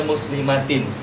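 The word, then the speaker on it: مسلماتٍ: terhadap mamnu minas sarf, tapi kita tetap bacanya muslimatin. Kenapa kita baca seperti itu? Karena yang mamnu minas sarf itu hanya tanwin tamkin. Sedangkan di muslimatin ini tanwinnya bukan tanwin tamkin, tapi tanwin muqabalah. Ya, tanwin muqabalah.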